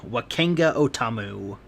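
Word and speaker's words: Wakanga O'tamu: blah blah so by the way the correct pronunciation is what kanga Oh double what kanga Oh Tom ooh sure sure whatever yeah welcome da forever so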